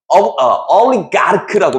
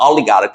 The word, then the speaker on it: oligarch: 이것도 응집성 있는, 결합력 있는 이고, 여기 이제 oligarch라고 발음합니다. oligarch.